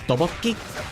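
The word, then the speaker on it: 떡볶이: If you ever see it spelled out, you're gonna be like, that's supposed to be pronounced tteokbokki? It looks like tabiakbokki or something like that. Like that's how it looks like it's spelled.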